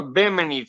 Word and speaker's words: bimini: do don't you i i say it wrong i caught the mini top and that's not how you say it it's called a bimini type if i have a